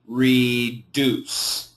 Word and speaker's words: reduce: this word reduce actually the perfect pronunciation would be reduced okay and this is an S sound so think of it as an S so reduce reduce however